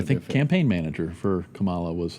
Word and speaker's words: Kamala: So if you're gonna say her name in Hindi, it's a Hindi name, it's Kamala. Kamala. That's how you would say it in India.